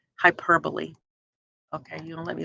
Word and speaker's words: hyperbole: throw and so the word hyperbole it's not pronounced hyperbole but hyperbole means to overthrow or go over so again